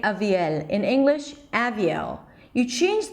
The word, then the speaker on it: Aviel: So the first syllable is just going to be a schwa. The second syllable, a high E, avi. And then the primary stress, the longest syllable, is at the end, L with a dark L.